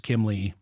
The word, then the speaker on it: Kiemle: But so it's pronounced Kimmel, Kimeli, it depends, but it's Kiemle.